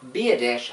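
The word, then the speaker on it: Biadasz: select Tyler be adesh and I looked the pronunciation up I didn't butcher this one Tyler be a dish offensive lineman Wisconsin in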